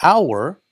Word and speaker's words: hour: Pero aquí, en inglés, para hour, la H es silenciosa. Si no hubiera H, hour es nuestro. Pero con la H, hour es hora. Igual que en español, hora. Pero la H no se dice, no se va a pronunciar hour. Se dice hour, está silenciosa.